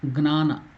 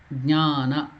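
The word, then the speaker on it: ज्ञान: It is not Gnana. G and Na becomes Gna, but here it is another letter, Jna, Jnana. Jnana Pushpancha Panchamam.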